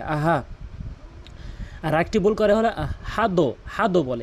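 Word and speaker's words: أحد: আরেকটি ভুল করে হল আহাদ হাদ বলে এখানে হাদ কখনোই বলা যাবে না কোনভাবেই বলা যাবে না এখানে আহাদে বলতে হবে আহাদে নিয়ম রয়েছে।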